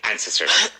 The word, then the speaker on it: ancestors: With emphasis at the beginning. Ancestors.